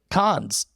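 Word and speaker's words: Cannes: uh this actually debuted at and I always mispronounce it cons oh oh yeah did I say it right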